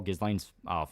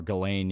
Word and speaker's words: Ghislaine: Apparently Ghislaine's pronounced like Glenn. Bro, sentence her to death on that alone. Or Ghislaine, yeah.